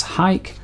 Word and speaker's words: HEIC: to either a heic which i'm going to pronounce as hike or a jpeg to